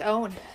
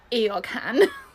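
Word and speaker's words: Eoghan: It looks like Eorgan. No, I'm sorry. We're making a joke. Was I supposed to lea Thoga? So, it's an Irish spelling.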